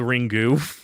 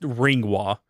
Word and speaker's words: Ringu: But and for those that don't understand why I'm calling it Ringwa, it's not called Ringu, despite what the fucking idiots on YouTube will say. It's pronounced Ringwa.